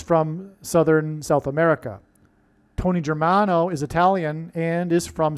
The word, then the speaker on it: Germano: Okay, let's, Tony Germano rhymes with Tony Soprano, who is symbolic of the Antichrist, the leader of the mafia in that show, The Sopranos.